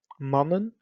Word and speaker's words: mannen: Mannen, which would be the short pronunciation, we will write the consonant twice. Mannen.